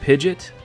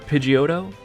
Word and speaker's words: Pidgeot: How do you pronounce this Pokémon's name? If you said Pidgeot or Pidgeotto, then you'd be wrong.